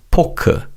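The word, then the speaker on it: 포크: Remember that Korean language doesn't have an F sound. So when English words with the letter F are said in Korean, it's usually pronounced as a pup sound which is similar to the P sound in English.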